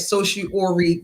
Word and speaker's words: certiorari: They can deny something called certiorari, which means that certiorari, yeah, that's right, making sure I say it correctly.